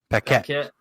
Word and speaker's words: Paquette: Her last name's Paquette. Paquette. So I never knew how to pronounce it. It's French. She's French Canadian. Yeah. So the QUE has a K sound.